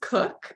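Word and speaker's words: Koch: psoas has come from Liz cook um and her last name is spelled k-o-c-h um and she has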